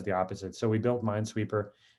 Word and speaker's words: m9sweeper: So we built m9sweeper. It's not spelled like M-I-N-E, it's m9sweeper, right? Kind of like people abbreviate Kubernetes, K8s, right? K8s, same thing, right? It's a kind of fun abbreviation.